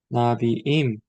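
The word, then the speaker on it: נְבִיאִים: 이것이 왜 그러냐면 액센트가 앞쪽에 있다가 뒤쪽으로 forward to the new syllable로 옮겨진다는 것이죠. new syllable은 보통 이제 성을 변화시키거나 아니면은 성과 수가 바뀔 때 전미어가 이렇게 바뀐다고 했잖아요. 여기로 음절의 강세가 옮겨진다라는 것이죠. 그래서 나비에서 나비임 이렇게 바뀐다는 것이죠. 임으로 강세가 일로 옮겨지는 것이죠.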